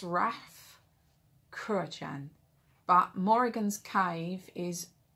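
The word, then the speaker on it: Rathcroghan: think the hillside where it's set is pronounced raph kurochan but morrigan's cave is raf krahan uh it's spelled a r-a-t-h-c-r-o-g-h-a-n and um that is where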